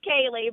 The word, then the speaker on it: Kali: Is that right, Callie? That's like Callie. It's Kaylee, but it doesn't matter.